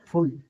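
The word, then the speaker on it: full: जैसे एफ U double L फुल पी U double L फुल बी U double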